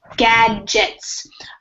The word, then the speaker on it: gadgets: Gadgets. So we have the hard G and then the soft G.